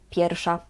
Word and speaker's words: pierwsza: Here the "w" we pronounce as "f". "Jest pierwsza." But actually in natural speaking, we just skip it and we say: "Jest pierwsza."